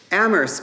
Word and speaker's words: Amherst: colleges one could imagine Ammerst College and note that the H is silent was established in 1821